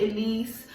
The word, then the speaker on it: Ellesse: at least at least however you people want to pronounce it i call it elise some of you might